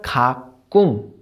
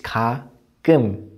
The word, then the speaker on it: 가끔: It's not 가끔, it's 가끔. 우, 으. 꿈, 끔.